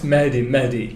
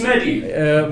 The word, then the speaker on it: Mehdi: Okay, actually, it's Mehdi. Oh, it's just Mehdi. So I'm overpronouncing. With an H, like you have to pronounce it. If you want to pronounce it right. Yeah, so to pronounce it right. With an H, definitely.